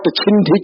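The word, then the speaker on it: छिन्धि: Hrum Fat Chindhi Chindhi Bhindhi Bhindhi Swaha. That is the mantra. And he doesn't pronounce it properly.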